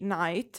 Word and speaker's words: Nayt: Also, before moving on, why Nayt? Why this pronunciation? Because mezzanotte in Italian is midnight. So that's why the different phonetics, like the unexpected, at least from my point of view, phonetic of his name.